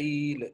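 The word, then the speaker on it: ils: के बगैर है ईल और यह एस के साथ है ईल इ नहीं पढ़ेंगे इसको इसको भी लही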